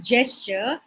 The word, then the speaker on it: gesture: number one is gesture what is the pronunciation J not g it is gesture she gestured towards the